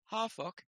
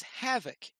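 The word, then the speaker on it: Hafoc: When I do Rohirric, I usually pronounce things as Old English, and of course an F would be pronounced as a V between two vowels. So I just realized at this point that the name is Havoc.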